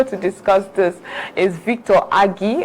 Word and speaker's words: Agi: discuss this is Victor Agi. I just got to learn that the proper pronunciation of that surname, so I will fly with it.